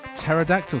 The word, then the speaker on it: pterodactyl: not tolex is actually pterodactyl skin very good you got the silent p in there as well the progenitor of